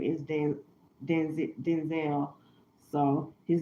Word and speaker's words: Denzel: He said his name is pron pronounced Denzel and he said when he was younger his dad he's Denzel Washington Jr.